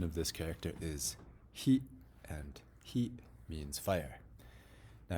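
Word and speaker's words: 火: with just a pencil or a pen the pronunciation of this character is he and he means fire now here's an interesting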